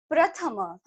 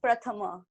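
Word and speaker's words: प्रथम: but it's pronounced as Prathama, which means first, something that is first, Prathama. Is it that? Yep, you're right. Okay. Great. It was a little different. The pra sound was different.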